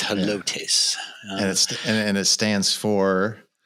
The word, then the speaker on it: Helotes: So people don't like to pronounce that correctly. So I wanted to make sure everybody knew that it's Helotes.